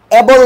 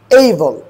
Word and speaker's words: able: অ্যাবল নয়, হবে কি? এইবল।